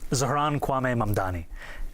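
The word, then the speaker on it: Zohran Kwame Mamdani: your full name, Zaharanwaame Mandani.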